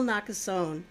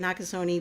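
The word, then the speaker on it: Nakasone: the first one admiral nakazone and i sometimes say it nakasoni but i don't think he pronounces the e at the end but yeah that's him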